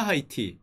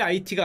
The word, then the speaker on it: 아이티: 근데 왜 IT가 아니냐? 이건 제가 왜 갖고 왔냐면은, 제가 어렸을 때 그 불어반을 했죠. 자, 프랑스어는 H가 묵음입니다. 아, 좋습니다. 요런 거 하나 알아가면 돼요. IT죠. IT. H가 묵음이에요.